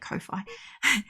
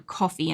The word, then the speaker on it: Ko-fi: far as I know, coffee or whatever, somebody's going to be like at me about this seriously because I keep calling it Ko-fi. I only learnt about it, and I'm like, oh, it's like Wi-Fi, but it's Ko-fi kind of thing.